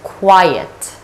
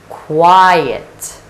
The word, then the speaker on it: quiet: it's a bit puzzling it is pronounced as quiet quiet like before the words dirt with qua consonant cluster and I diphthong and there is a schwa the sound sure is